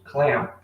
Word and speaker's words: clamp: Isso aqui nós chamamos de clamp. Clamp. Ok? O P é mudo. No caso, ele não tem um som de vogal aqui, mas faz o P no finalzinho, ó.